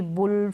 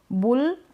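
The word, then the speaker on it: bull: बुल अब बल नहीं बोलेंगे।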